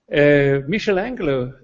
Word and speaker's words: Michelangelo: Michelangelo is the right pronunciation, sorry for that.